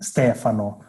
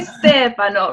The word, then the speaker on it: Stefano: And how do you say your name in Italian? I say my name, Stefano. You say Stefano, right?